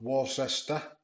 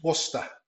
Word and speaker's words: Worcester: in the UK and that's how it's pronounced not Warester Wish there's one one lady online who says wishes wishes or something but it's Worcester so the Worcester ruby